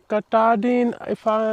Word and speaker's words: Katahdin: Fresh, clean water, and right behind you have Mount Katahdin, that's how you pronounce it.